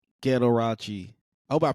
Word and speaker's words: Ghettorauchi: up with the name Ghettorauchi? I hope I pronounced that right. You said it right. I got the shirt on too, just so people can see it. Ghettorauchi, spelled Ghettorauchi. Ghettorauchi rhymes with Liberace, except I ain't gay.